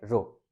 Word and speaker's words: rho: इसको कैसे प्रोनाउंस करते हैं, RHO, ठीक है, रो।